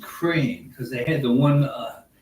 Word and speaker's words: Ukraine: even knows that and it's pronounced crane because they had the